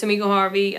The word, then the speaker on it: Tamika Harvey: Did I pronounce your name correctly? Yes, you did. You pronounced it correctly. My name is Tamika Harvey.